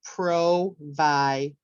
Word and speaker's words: provider: for provider okay so I would keep it low for Pro then I would raise it for Vi and then I would lower it for der so provider okay very good so